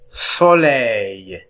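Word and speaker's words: soleil: أما إذا كان أ و إي متبوعان بحرف اللام فإن اللام ينطق بالياء، إذن ينطقون جميعا أي، مثل سولي، سولي.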